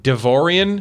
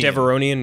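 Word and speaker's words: Devaronian: So Clancy Brown's character, Berg, is a Devorian. Mm-hmm. Devoronian, yeah. There we go. I'm bad with pronunciations.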